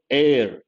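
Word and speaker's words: heir: here you have to think of the word air h is silent means what a person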